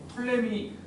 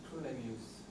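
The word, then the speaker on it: Ptolemy: 체바의 정리, 메넬라우스 정리, 톨레미 톨레미가 그거든. 어, 톨레오스랑 똑같은 사람이야. 어디서는 PT로 돼 있는 거를 푸트라고 읽고 어디서 그냥 T라고만 읽나 봐. 푸톨레미오스.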